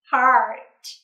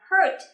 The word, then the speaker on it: heart: dùng để yêu nào Heart h không đọc là Hurt ha hear nha heart heart take me